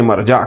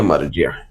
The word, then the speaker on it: مرجع: والا، ایک ہے مرجع جس کو عام طور پر تلفظ میں ہماری بولی میں مرجع کہا جاتا ہے، اصل میں دیکھا گیا تو اس کو کہنا چاہیے مرجع۔ تو اب ہم مرجع بھی کہہ سکتے ہیں سمجھنے کے لیے، مگر وہ اصل ہے تلفظ اس کا ہوتا ہے مرجع، لوٹنے کی جگہ۔ مفسر